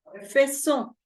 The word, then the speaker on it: faisons: S, sino vamos a pronunciar hasta la N, igual E, y esta S no se va a pronunciar, entonces sería nous faisons. ¿Sí? Nous faisons. Ajá. Y esto, o sea, lo que es esta sílaba de aquí para acá, es nasal.